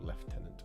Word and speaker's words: lieutenant: Lord lady olinders accursed lieutenant or left tenant if you are gonna say it properly um well done Josh